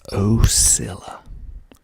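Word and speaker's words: Ila: first one is illa oilla illa Georgia that's how you pronounce it a day ad there's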